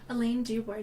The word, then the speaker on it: Alayne Dubord: Did I say it wrong? Alayne Dubord. Yeah, you got it.